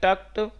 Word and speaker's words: tucked: Why tucked is being pronounced? Because K is a voiceless consonant, and voiceless consonant, when it is being followed by EED as a suffix, then it is also turning to be the voiceless.